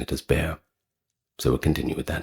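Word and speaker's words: Béxar: aware that there are several different pronunciations for that word bear being b e x a r I believe the Spanish pronounce it as bear or they are something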